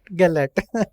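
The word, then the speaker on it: Gellért: God on gelert Hill is it Galler or galet it's Gat gallet okay this pronunciation is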